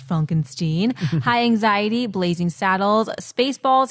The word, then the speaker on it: Frankenstein: Mine are Young Frankenstein, pronounced Frankenstein, High Anxiety, Blazing Saddles, Spaceballs, History of the World.